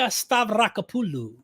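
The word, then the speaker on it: Stavrakopoulou: you trying to say her name it's francesca stavrakapullu i like that i my friend stephen nelson actually taught me how to pronounce her name properly this is the book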